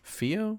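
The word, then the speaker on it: Filo: I mean, Is it Fio or Philo? Philo? I'm pretty sure it's Fio. Fio? Like the L is silent, Okay.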